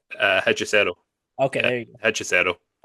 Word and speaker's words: Hechicero: Do you know how to pronounce his Oh, name? Hechicero.